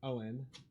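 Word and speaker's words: Eoin: I mean, my name is Gaelic Owen. E O I N. But yeah, some people do just like mispronounce it like as a thing, even like Irish people because traditionally it's spelled like E O U G H A N.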